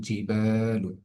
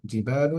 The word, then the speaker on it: الجبال: وسيرت الجبال فكانت سرابا، এই আয়াতের মধ্যে ওয়াসুইয়িরাতিল জিবালু, স্বাভাবিক এতটুকু পড়লাম। জিবালু এর মধ্যে বায়ের মধ্যে এক আলিফ টান হচ্ছে, জিবালু, জবরের বাম পাশে খালি আলিফ মাদের হরফ।